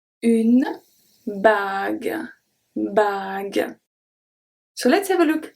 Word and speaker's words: bague: We add the U, even though we don't pronounce it, this is simply to keep the G as a hard G.